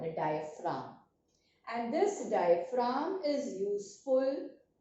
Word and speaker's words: diaphragm: spelling of diaphragm it here the G is silent it is diam from